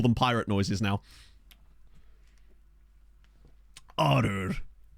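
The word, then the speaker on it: Għargħur: This is Arur. I'm sorry, Maltese. I'm sure I'm still butchering the name, but I believe it's pronounced Arur. Because there's two silent letters, literally two double silent letters in this word.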